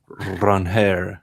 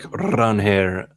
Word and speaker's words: Ranger: Uh I do like Ranger Suarez or Ranhair Suarez as he clarified in his signing press conference. Uh let's do that. I like Ranhair Suarez better.